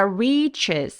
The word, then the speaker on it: reaches: 스이 만들어진 겁니다 자 reaches 할 때 여기 포인트는 re 굉장히 긴 음이고 리가 아니라 리 하면 안 돼요 re 해서 입술을 쭉 내밀어주고 혀를 뒤쪽으로 당겨 주시는 발음으로 꼭 내주세요 that reaches CH 입술 뚝 내밀어서 reach 치치가 아니라예요 여러분 입술 쭉 내밀기 reaches up in the